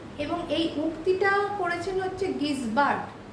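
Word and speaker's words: Gisbert: এই উক্তিটা করেছেন হচ্ছে গিসবার্ট গিসবার্ট বলে আবার কেউ কেউ কিন্তু এটাকে জিজবার্ট উচ্চারণ করে কারণ ইংলিশ টার্মটা হচ্ছে জে আই এস বি আর টি যে যেরকম ভাবে উচ্চারণ করে এবং এই লাইনটা আবার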